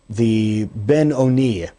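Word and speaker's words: Beinoni: It is brought down in the Tanya that there's this one known as the Ben Oni, or sometimes pronounced the Benoni, the one who is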